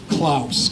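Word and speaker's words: Klous: And they were built by a very interesting man whose name is either pronounced Simon or Simon Klaus, K-L-O-U-S, who owned most of the land on the north side of Broadway up to about Mystic Avenue.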